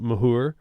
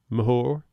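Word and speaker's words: Moher: Of of note, that is filmed at the cliffs of pardon my pronunciation, but Mahor. Mahor.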